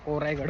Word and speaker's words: कोरीगड: बसायला लागलेत उन्हाचे अजून कोरेगडला जायचंय कोरेगड आहे का कोरायगड माहित नाही पण इथले लोक कोरायगड म्हणतात स्पेलिंग कोरीगड आहे जरूर होय चलो गाडी